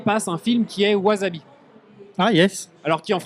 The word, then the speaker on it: wasabi: à la télé passe un film qui est wasabi. Ah yes. Alors qui en qui en japonais se prononce Wasabi he ? S prononce S enfin ce en japonais mais en français c'est Wazavi et je regarde le film avec Jean Renault